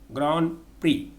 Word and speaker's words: grand prix: not pronounce its pronunciation that's not known in pronunciation almond a-l-m-o-n-d almond not almond almond comfortable comfortable not comfortable grand prix ground free social not social social summon s-a-l-m-n summon not